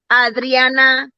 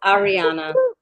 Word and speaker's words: Ariana: gonna say it right Adriana Grande no it's Ariana like there but missing